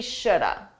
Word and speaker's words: should have: talk about the pronunciation notice I said we should have we should have had should have native speakers we combine this to sound like notice that L is silent we Shoulda we should have had should